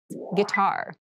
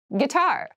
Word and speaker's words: guitar: casual clothing casual clothing guitar guitar gar this word has kind of an interesting spelling it starts with GUI but we pronounce this as G so a guitar is